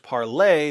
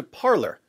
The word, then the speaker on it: Parler: an alternative to Twitter it was originally pronounced parlay but no one likes French so everyone kept calling it parlor and the American pronunciation